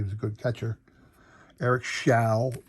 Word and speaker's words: Show: time because he was a good catcher eric shao it's pronounced shall not show eric chow gave up uh pete rose's uh